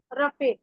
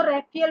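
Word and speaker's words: Raphael: दूसरे हमारे एंजल आते हैं आर्कएंजल, चलिए, तो दूसरे एंजल हैं हमारे आर्कएंजल रफेल, इसको रैफियल भी बोलते हैं कई लोग, कई रैफेल बोलते हैं, उच्चारण का फर्क है, आप देख लीजिएगा प्रोनाउंसिएशन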